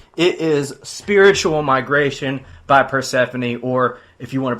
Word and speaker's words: Persefone: It is Spiritual Migration by Pphanie or if you want to pronounce it incorrectly like a cheese face. Uh, Persafhone as I've heard before.